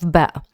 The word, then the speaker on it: ب: the the letter and below the B in below is the same pronunciation as this B.